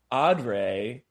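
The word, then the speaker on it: O'Dea: I think her name is pronounced Audrey as Barbara, and then you have Carl Hartman as Mr.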